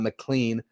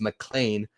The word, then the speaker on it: McLean: And then Nolan McLean, I've learned I've been saying that name wrong all this time. It's not McLean like it looks. It's McLean like Die Hard.